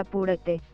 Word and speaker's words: apúrate: Apúrate se pronuncia apúrate.